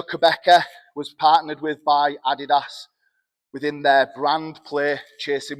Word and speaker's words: Adidas: load of Americans how to pronounce Adidas. It is Adidas, not Adidas.